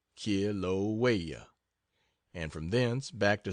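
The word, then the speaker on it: Kilauea: active volcano in the world that of kilaa pronounced K waya and from then back to San Francisco and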